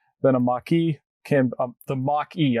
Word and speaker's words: Mach-E: a maki can the mock e i say it like maki sometimes but the mock e